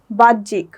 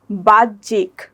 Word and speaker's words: বাহ্যিক: আছে তারপরে আরেকটা উদাহরণ বাহ্যিক এখানে হ এর সাথে জ ফলাটা যুক্ত হয়ে এটার উচ্চারণ হয়েছে কি বাহ্যিক এখানে হ এর উচ্চারণটা হচ্ছে না এখানে জ ফলারই উচ্চারণটা হবে। যেমন বাহ্যিক।